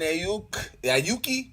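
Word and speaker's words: Aiyuk: So Brandon Ayuki, how you pronounce his last name?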